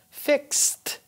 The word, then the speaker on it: fixed: Fix becomes fixed. Notice how I pronounce the T at the end.